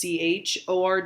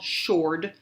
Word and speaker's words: chord: right here knows it's ch Ord it is not called Shourd it is chord it's a hard C chord and I want to